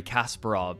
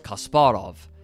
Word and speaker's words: Kasparov: For example, I recently learned everyone calls him Garry Kasparov, but it's Kasparov. And even if my accent is terrible, it's still closer to the correct pronunciation.